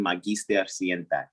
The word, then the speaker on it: magister: the term again uh is how that would be pronounced in latin magister all right cool perfect